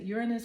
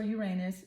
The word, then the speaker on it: Uranus: Let me do point out that baby Uranus or however you want to pronounce it, Uranus or Uranus. People pronounce it different ways.